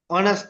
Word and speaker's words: honest: அவர் honest man. இந்த ரெண்டுலயுமே ஹெச்க்கு வந்து உச்சரிப்பு இல்ல. H silent.